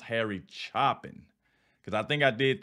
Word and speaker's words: Harry Chapin: uh Harry chopping at first I said his name wrong I said Harry Chapin when I first reacted to him y'all like no hey though it's pronounced Harry chopping because I think I did the Cats in